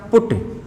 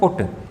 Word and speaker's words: put: ठीक है, अब इसका जो उच्चारण होगा वो होगा क्या, पुट। उच्चारण क्या होगा, पुट।